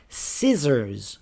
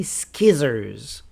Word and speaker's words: scissors: For example, scissors. We don't say skizzers.